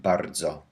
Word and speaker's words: bardzo: We need to pronounce each sound z whenever it doesn't have an I, as in bardzo or dzwon.